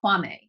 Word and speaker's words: Quamme: where today you are going to meet Ashley Kwame her ex pronunciation of your name yes okay a licensed